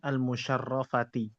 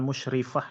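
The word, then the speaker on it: المشرفة: Lizaratil Ka'bah almusyarofah. Liyarat alka'bati almusyarofati. Nam. Nam. Jau ila Makkata lizaratil Ka'bati almusyarofati. Bukan musyrifah ya. Kok musyrifah tuh jadi jadi gini isim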